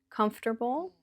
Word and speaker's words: comfortable: Comfortable is 3 syllables or 4 syllables.